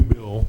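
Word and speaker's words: Beall: there is a new bill. I understand it's kind of that both Fraser and Beal, or he pronounces it Bill, have been working on, and I haven't heard much of it since then.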